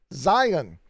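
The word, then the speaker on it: scion: i wrote it up there it's called a zion now it's spelled s-c-i-o-n but so is zion in some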